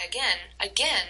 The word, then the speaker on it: again: So in the first one, try again has 2 syllables. And you can tell that again, the second syllable has the stress, right?